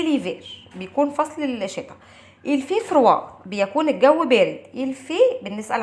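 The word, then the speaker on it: froid: الفي فروا بيكون الجو بارد. الفي بنسأل عن الطقس بنقول عليه الفي يعني بيكون بارد. الفي فروا بارد. اف ار او اي دي فروا. الفي فروا والدي هنا ما بتتنطقش، يبقى سي ليفير الفي فروا.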